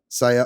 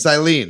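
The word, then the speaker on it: Cyllene: Captain Saya? How do you pronounce her name? Silene, I think. Silene, that's what it is.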